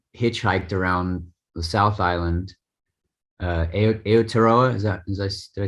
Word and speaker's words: Aotearoa: Aotearoa, did I say it right?